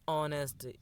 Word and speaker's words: honest: My neighbor is an honest, because honest, this is h is silent here, so we use a an honest.